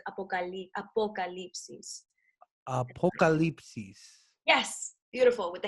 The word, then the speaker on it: apocalipsis: It's like apocalypse with an extra "is" at the end. So it's like eclipse, so the apocalypse is. But you gotta kind of like pronounce the O with the vowels, the Spanish vowels.